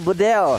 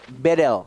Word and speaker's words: Bedel: Dari mahasiswa Turki, dia bilang, Bang Kornet bacanya bukan Bedel, jadi tapi E-nya dibaca semuanya E. Jadi Bedel.